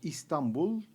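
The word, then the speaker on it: İstanbul: Estambul, o como pronuncian los turcos Istambul, es la capital cultural y administrativa de nuestro país con más de 16 millones de habitantes.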